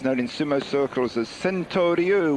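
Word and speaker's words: Sentoryu: Interesting newcomer now to the Makuuchi division, Henry Armstrong Miller, otherwise known in sumo circles as Sento Ryu, which was taken after the Japanese pronunciation of St. Louis, which is where he comes from, in Missouri.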